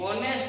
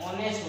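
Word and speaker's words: honest: उसी प्रकार ये ऑनेस्ट नहीं होता है, ये ऑनेस्ट होता है। ये क्या होता है, ऑनेस्ट, एच साइलेंट होता है, ओ से स्टार्ट होता है, ऑनेस्ट होता है, वो आती है आर्टिकल एंड।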